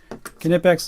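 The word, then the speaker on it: Knipex: saying that name wrong kinetics is the way that the Germans say it so I'm never gonna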